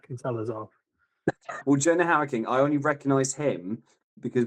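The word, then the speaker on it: Hauer-King: I've got no idea how to pronounce his name. Jonah Hoya King. Ha. H A U R King. Jonah How King.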